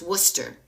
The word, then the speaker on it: Worcester: It's Worcester.